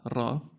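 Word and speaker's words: ر: Um we like to roll our Rs, and this is ra.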